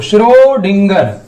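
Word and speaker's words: Schrödinger: inner साहब ने shrewdgar श्रोत श्रोत श्रोत ऐसे प्रोनाउंस करना आपको शुरू डींगर ओके यह मैंने हिंदी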